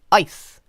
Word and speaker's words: ice: vowel sound eyes while ice has a short vowel sound and that's because diphthongs